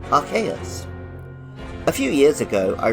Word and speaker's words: Arceus: so on for a long time most people pronounced it Arceus which was especially funny in the UK where